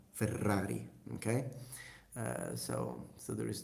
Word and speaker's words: Ferrari: I don't say further oddly no I say Ferrari Ferrari okay so so there is that and I